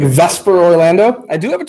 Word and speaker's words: VSEPR: theory that's VSEPR and so of course we pronounce that Vesper which you will note is not the way